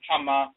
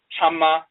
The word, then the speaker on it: Chama: They say Chama, and they'll spell it with a K-Y, Chama. Sometimes they spell it with a T-C-H-A-M-A, Chama. And sometimes they spell it with a K-A-M-A, Kama, or C-A-M-A, Kama. So Chama and Kama is the same pronunciation.